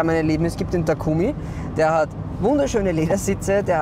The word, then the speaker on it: Takumi: Takumi, wie die MX-5 Sonderausstattung genannt wird, wird korrekt japanisch eigentlich als Takumi ausgesprochen und lässt sich am besten mit dem deutschen Wort geschickt übersetzen.